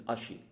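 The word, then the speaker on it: あし: then this kanji here it's pronunciation is ashi now in Japanese um both leg and foot are both called ashi and so we can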